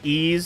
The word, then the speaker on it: Ys: It was definitely pronounced Ys, so like Ys as in like with a Z, like it sounds like there's a Z in there, like I'm pronouncing it, Ys.